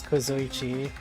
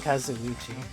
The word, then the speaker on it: Kazuichi: it gonna be us i think i've been pronouncing his name mom i've been for nothing his name as kozoichi but they've been saying kazuchi the others all have